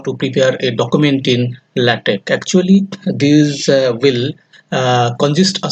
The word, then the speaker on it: LaTeX: and let it actually latex and it is pronounced as latex and it is a document preparation system with